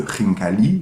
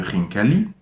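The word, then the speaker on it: ხინკალი: Le re, au début de khinkali, c'est le même phonème que en français dans l'onomatopée.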